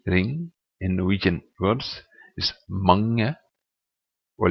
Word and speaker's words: mange: In Norwegian words is mange or lang. Notice how the G, it's not mange, it's not mange, it's mange, lang.